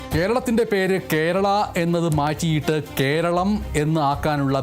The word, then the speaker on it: കേരളം: കാര്യവും ഈ വാർത്തയോടൊപ്പം ഓർക്കുക കേരളം കേരളം കേരളം എന്നുള്ള നിലയക്ക് ഇനി കേരളം മാറാൻ പോകുന്നു കേരള കേരള കേരള എന്ന് പറയുന്നതും കേരൾ കേരൾ കേരൾ എന്ന് പറയുന്നതും ഒക്കെ മാറ്റിനിർത്തിയിട്ട് അം എന്നുള്ള ഉച്ചാരണം വരുന്ന രീതിയിൽ കേരളം എന്ന് കേരളത്തിൻറെ പേരിനെ വിപുലീകരിക്കാനും